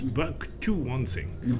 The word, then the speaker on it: Bucktowonsing: Oh, no, it's not at all back. It's Bucktowonsing. Bucktowonsing.